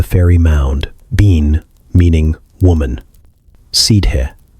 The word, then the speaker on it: Sidhe: Sidhe, pronounced like she, meaning the fairy folk,